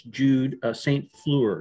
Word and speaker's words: Jude St. Fleur: Jude St. Fleur, is that the correct That's pronunciation? Correct.